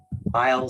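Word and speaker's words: Weil: you go to the aisle Center for Integrative Medicine website and while it's spelled w-e-i-l there are now I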